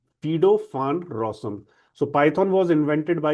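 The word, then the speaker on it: Guido van Rossum: when rosom but uh when we talk about a Dutch name so this will be pronounced as fido rosom. So python was invented by a Dutch programmer fedofan rosom in netherland in 1989.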